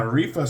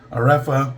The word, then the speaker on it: Areffa: Um so this is uh Areefa Soaps. I should have checked the pronunciation on that. Areefa Areefa can't be that far off.